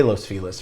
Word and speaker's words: Los Feliz: you pronounce this um los feliz people say that but locals and angelinos don't say that we say los feliz for some reason so